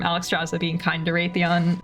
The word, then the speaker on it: Wrathion: Drazza being kind to Rathon. Oh god, I Ratheon. Everyone knows I'm a fake fan. I thought I broke myself with that habit. He just pronounces the French way. Rathon.